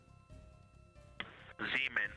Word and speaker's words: Zeeman: Zeeman. Okay, and can you say the first letter? I may be pronouncing that wrong. What's the first letter of that word? Zulu. It's Z-E-E-M-A-N. Copy.